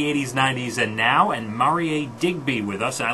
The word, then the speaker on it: Marie: It's spelled Marie, but it's pronounced Marier, the internet sensation.